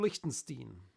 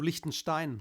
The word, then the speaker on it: Lichtenstein: Mike kessling and Drew Liechtenstein beautifully pronounced did I pronounce it correctly I wanted to say drew Lichtenstein like you would say it in German yeah but he's not